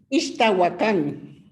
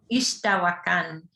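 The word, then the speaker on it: Ixtahuacán: How do you pronounce this last word, Eugenia? Ixtahuacan. Ixtahuacan.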